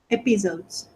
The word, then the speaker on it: episodes: has sorry, Episodes. episodes, episodes. Sorry about He, episodes. Yes. episodes With the stress in the first syllable.